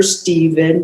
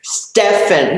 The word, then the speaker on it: Stefan: We have a wonderful actor, Stephen. Stefan, he's correcting, I said his name wrong, Stefan, who wanted to do a podcast.